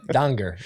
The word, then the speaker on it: Danger: Danger is actually how it's pronounced.